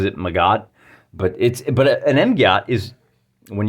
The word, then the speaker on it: MGOT: He says he pronounces it Magot, but an MGOT is, when you're dealing with this level of warfare, it's anything with a big old gun.